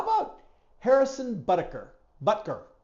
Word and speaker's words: Butker: Butker. I always want to put an extra syllable in there.